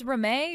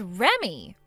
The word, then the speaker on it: Reme: Do you read that as Reme or do you read that as Remy? Huh? You're supposed to read that as Remy. Remy. So your name is Remy? It's spelled Reme, but you read it like Remy.